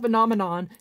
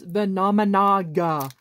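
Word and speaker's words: Venominaga: The monster, it's not Venomenon, it's Venomenaga.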